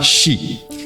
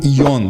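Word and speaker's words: 四: Veja, 4 em japonês se fala shi. E morte também se fala shi, na mesma ortografia e na mesma pronúncia. Por isso ele é considerado azarado. E normalmente você vai encontrar os japoneses falando o número 4 como yon, que é a sua pronúncia alternativa.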